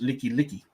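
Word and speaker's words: Likelike: It's spelled black light, but in in Hawaiian it's Licky Licky.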